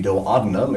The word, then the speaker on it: duodenum: The duodenum is how it's pronounced precisely, but we'll give you that for 10 points.